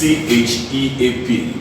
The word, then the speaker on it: cheap: This is pronounced cheap, not sheep, it's cheap.